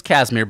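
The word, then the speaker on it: Casimir: found out why he was his name was kasmir but it's spelled k not like the um and not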